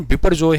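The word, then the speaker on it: Biparjoy: इसका नाम, इसका प्रोनाउंसिएशन बिपरजॉय है, याद रखना।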